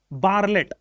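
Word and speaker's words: Bartlett: ये साइंटिस्ट साहब थे नील बार लेट तो इनको लिखा जाता है नील बर्ट लट लिखा जाता है टी साइलेंट थे जो लैबोरेट्री में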